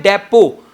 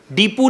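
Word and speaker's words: depot: शब्द को पढ़ने हैं डिपो दीपू नहीं पढ़ने नहीं लाल बुक डिपो दीपू नहीं होता शब्द क्या होता है डिपो और टी साइलेंट है यहां पे ठीक है साल्ट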